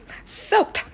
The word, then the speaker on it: soaked: ក៏បានដែរគឺថា loo ណាបងប្អូនឥឡូវបងប្អូនពាក្យទី6 drainage system គឺថាប្រព័ន្ធ loo របស់យើងហ្នឹងឥឡូវពាក្យទី7បងប្អូន soaked វាមាន ed at the end of pronunciation របស់វាដូចមាន t ពីក្រោយអញ្ចឹងពាក្យនេះគឺថាត្រាំទឹកឬមួយទឹកវាសទឹកយើងខ្លាំងហ្នឹងបងប្អូន soaked ពាក្យទី8បងប្អូន drenched អានឹងសើមទឹកsoak